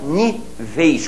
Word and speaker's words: níveis: Nível é paroxítona terminada em L, você faz níveis com ditongo fechado, já que a sílaba tônica está ali, né?